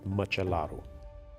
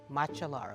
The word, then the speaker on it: Măcelaru: And last name is Machalaru. Matcha. Correct. Matchalaru. Like matcha. Exactly. Like matcha and rue at the end.